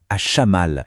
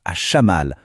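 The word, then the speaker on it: الشمال: En arabe, ça se dit à Chamal. Écoutez bien la prononciation, à Chamal.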